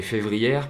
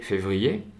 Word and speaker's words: février: Beaucoup d'apprenants prononcent janvière et févrière parce qu'ils savent qu'il y a un R à la fin du mot.